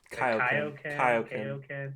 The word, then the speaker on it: Kaioken: It's Kaioken. Well, it's pronounced both ways. People pronounce it both ways. It's whatever. Kaioken. Okay, it's like King Kai. It's not like King K. It's King Kai.